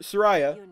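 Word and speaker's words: Suraya: guess we have something up here with sir Sariah that's how you pronounce her name Sariah Hawthorne civilization me at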